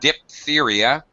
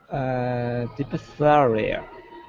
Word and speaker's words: diphtheria: Diphtheria. No. The PH should be pronounced as an F.